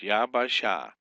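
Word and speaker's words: יַבָּשָׁה: So you got yava sha three syllables yaba sha consonant vow consonant consonant vow consonant vow consonant here.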